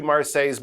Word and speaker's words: Marseille: how you pronounce it those L's especially in the middle they are silent so it's not Marci it's Mar like I say your